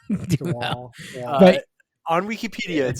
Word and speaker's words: Duhamel: Duhamel. Duhamel.